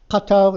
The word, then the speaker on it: Qatar: Katar is a Qatar. It's spelled with a Q. In Arabic, it's a katar.